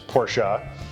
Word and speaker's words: Porsche: spell but yeah the quick correct way to pronounce the name of the brand is porsche and that is because quite simply put it's